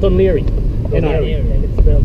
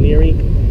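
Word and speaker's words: Laoghaire: no sorry nothing sorry there's a place called leary but jason was familiar with it because we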